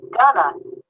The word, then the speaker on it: going to: Remember that in spoken English, going to is often pronounced gonna.